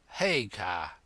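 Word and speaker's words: Haigha: name's his name is Hagar he pronounced it so as to rhyme with Mayor I love my love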